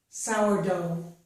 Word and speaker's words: sourdough: But notice that the GH is not pronounced in these words.